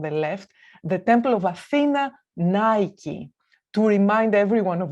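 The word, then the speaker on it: Αθήνα: The city of Athens is named after Athena, and Athena is how we pronounce Athens in Greek, the goddess of wisdom,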